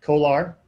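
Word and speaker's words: CO/ALR: And so they have these things called Kolar devices, copper to aluminum retrofit, C-O-A-L-R, but they pronounce it Kolar, C-O-A-L-R for copper and aluminum, and R's for the retrofit.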